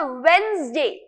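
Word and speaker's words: Wednesday: अच्छा, इसको बहुत सारे लोग वेडनेसडे प्रोनाउंस करते हैं, जो कि एक्चुअली रॉन्ग है। इसका सही प्रोनाउंसिएशन है वेंसडे। कैसे लिखेंगे भाई, देखो, लिखना ऐसे नहीं है, इसका प्रोनाउंसिएशन इस तरीके का, स्पेलिंग वही सही है लेकिन प्रोनाउंसिएशन है वेंसडे, ठीक है।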